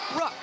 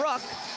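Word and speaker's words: ruck: It's a rook. R U C K and it's a short U sound. So, a rook.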